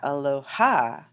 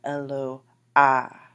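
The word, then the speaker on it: אלוה: And this is not Aloha, but Eloah, Eloah. And you can see that the syllable right before that last syllable is emphasized. That's where the accent is placed.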